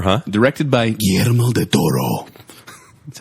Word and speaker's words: Guillermo del Toro: Directed by Guillermo del Toro.